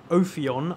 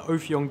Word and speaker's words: Ophion: of this little section so ophion I believe is how you pronounce it this is the ofyon guilt Specter in a